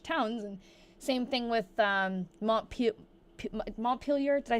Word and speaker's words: Montpelier: But I was saying Montpellier, like thinking it's the French pronunciation. And everyone was like, you're saying it wrong, you're saying it wrong, you're saying it wrong. I'm like, I didn't believe them that it was Montpelier.